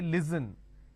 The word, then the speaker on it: listen: Now the listen word pronounced as l, e, s, li. So let me add a dash after that so that it's easier for you to understand. Okay, it's pronounced as li, s, n. Listen. They replace the s with a z and they say listen. It's not listen, it's listen.